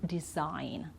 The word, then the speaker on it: design: end okay foreign and design okay so we don't sound the G here okay now with the